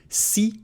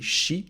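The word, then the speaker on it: し: Si doesn't exist in Japanese, so it's going to be shi. So if you want to have a Japanese accent while speaking in English, then all the si you can replace by shi. Sa, shi, su, se, so. Shi and not si, chi and not ti,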